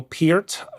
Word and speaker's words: Peart: Rush, the Canadian progressive rock trio of Geddy Lee, Alex Lifeson, and the late, great Neil Peart, whose surname I'm correctly pronouncing.